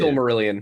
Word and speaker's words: Silmarillion: Did I pronounce it correctly? I think I did. Silmarillion.